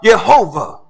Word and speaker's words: Jehovah: Israel y h wh sometimes we pronounce it as Yahweh or Jehovah or Jehovah but the